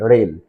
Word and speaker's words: reign: Next letter, I am trying to pronounce REIGN. REIGN. Rain.